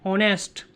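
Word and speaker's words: honest: H consonant है लेकिन H silent होता है। वर्ड क्या होता है? एन ऑनेस्ट।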